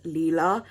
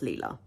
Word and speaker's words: Lila: just to say that the name of this character is actually pronounced Leela but obviously when you're